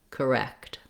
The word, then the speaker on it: correct: the stressed syllable and then add your first syllable as a light stepping stone to your stress syllable in this case that would sound like wrecked correct so i really want to have this syllable be um to the wrecked syllable to be long and stressed have the clear vowel and the syllable to be very short and reduced letter e incorrect says